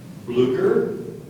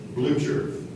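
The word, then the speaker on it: blucher: clothing would you repeat the two pronunciations again please bler or blue Jer bler bler b l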